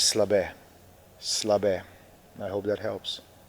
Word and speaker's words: Slabe: So my first name is and my last name is Slab.